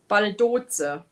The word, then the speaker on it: Baldoza: My stepdad's middle name is Baldos. My daughter gave my grandson the same, Oliver. Am I saying it right? Baldos or Baldoza? Baldoza. That's how we would say it in Deutsch. Sounds.